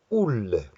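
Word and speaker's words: Olle: In Swedish, they have O-L-L-E, and they pronounce it ull.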